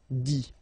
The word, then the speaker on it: dit: Remember, you put this T, you don't pronounce it. Écrit, dit.